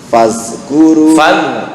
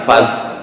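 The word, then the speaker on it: فاذكروا: fil khalqi basta pas fazkuru bukan faz fazkuru ala panjang fazkuru ala Allahi la'allakum tuflihun.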